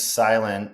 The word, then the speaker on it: SLNT: Well, all things silent, it's spelled SLNT.